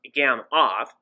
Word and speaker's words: Gamow: grunted at the noodles a gammoff bag pronounced gam off was invented by igor